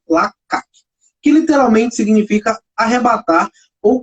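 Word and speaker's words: לקח: A palavra hebraica traduzida para tomou foi lakak. Está escrito lakash, mas a pronúncia dessa palavra é lakak, que literalmente significa arrebatar ou capturar.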